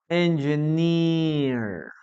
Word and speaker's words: engineer: Engi, engi, engi, engineer. Okay, long vowel. We never say engineer. Engineer.